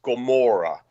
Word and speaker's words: Gomorrah: It's basically it's spelled, and it's probably pronounced Gomorrah. Oh, like Gomorrah, like Sodom and Gomorrah.